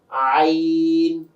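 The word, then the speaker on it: ع: এরপরে হচ্ছে আইন। সাধারণ জনগণের কাছে বা আপনাদের কাছে সবচেয়ে কঠিন যে হরফটা লাগে, আইন। গলাতে একটু চাপ দিয়ে বের করতে হয়, আইন হলকের মাঝখান থেকে।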